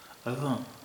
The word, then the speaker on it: اذان: عربی کے لحاظ سے تو اس کا تلفظ اذاں، اذاں، اذاں، اذاں، اذاں، یعنی زبان کو اوپر اور نیچے دونوں دانتوں کے بیچ میں لا کر، اور جب ہم ز